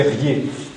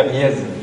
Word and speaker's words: riez: Alors, un mot qui est très courant, c'est riez, écrit souvent R-I-E-Z. Donc, dans la zone picardophone des Ardennes, on dit des riez au féminin.